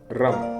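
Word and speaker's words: रं: लगती है और इसका बीज मंत्र है रम आर ए एम रम तो मेरे साथ इस बीच मंत्र का उच्चारण करेंगे।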